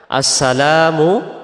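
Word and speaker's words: السلام: থাকি এরপরে আসেন দ্বিতীয়টা আসসালামু আলাইকা আসসালামু এখানে লামের পরে যে আলিফটা আছে এটাকে এক আলিফ টান দিতে হবে আমরা যদি এক আলিফ টান না দিতে পারি তাহলে জবরের পরে আলিফটা বাদ চলে যাবে আমরা বলব আসসালাম আসসালামু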